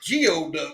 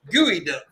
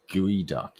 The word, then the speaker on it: geoduck: YouTube and it said I thought it said Geoduck because it was spelled GEO, right? Yeah. Then I Googled it and it said pronounce Gooey Duck. Gooey Duck, yeah.